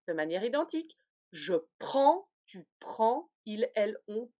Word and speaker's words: prends: Je prends, tu prends, il, elle, on prend. C'est une nasale du A.